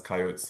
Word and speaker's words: coyote: has coyotes living within them. Okay, so see, you said coyotes, right? So we are used to saying coyotes, but the correct pronunciation is coyote? Either one. Okay, either one works.